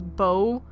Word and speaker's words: Beau: And then lastly we have y'all got mad at me for pronouncing Beau as Bew. Like, for some reason this is pronounced as Beau. Makes more sense to be Bew.